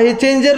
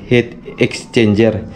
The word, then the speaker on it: heat exchanger: Doon sa mga kukomment pala mga soyo, doon sa bangkang pamimasa na videohan ko, ang tamang kon talaga nito, bigkas ay heat exchanger, hindi heat changer.